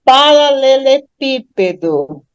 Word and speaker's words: paralelepípedo: A mesma coisa com século, a mesma coisa com próximo, e aí a gente chega em paralelepípedo. Confiram aí quantas sílabas tem a palavra paralelepípedo.